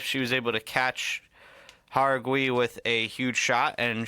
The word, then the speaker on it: Jauregui: Ketlin Souza versus Yasmin Jauregui, I believe they're pronouncing it. I've always known it to be Uruguay, but, you know, I maybe we were all wrong the whole time. It's Jauregui.